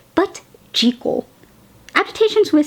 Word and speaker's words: Jekyll: jel and Mr Hyde and yes the original pronunciation is not jeal but jle agitations with sound mispronounced it and now at